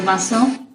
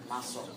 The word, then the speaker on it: muscle: the gray is your musle muscle right not mus okay musle and everything in the